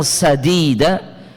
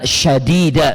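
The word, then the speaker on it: سديدا: Ya, ini bacanya bukan syadida, Bapak, Ibu. Nggih. Ada sebagian orang yang kurang pas membacanya. Waqulu qulan syadida pakai syin artinya jauh banget, Pak. Sadida artinya benar, baik ya. Syadida artinya keras, kencang, Pak.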